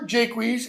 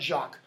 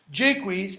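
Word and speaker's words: Jaques: are close friends okay then we have Oliver Jake wheeze and and that's how it's pronounced it's not shock Jake wheeze and Orlando sons of Saranda block so Roland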